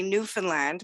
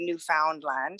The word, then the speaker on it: Newfoundland: Yeah, Newfies just say Newfoundland, but yeah, I mean, some people say Newfoundland. It doesn't really matter which.